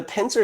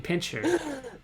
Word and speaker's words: pincer: from the lower left are you saying it correctly just to are you mocking me cuz I deserve it I for saying pincher I believe just about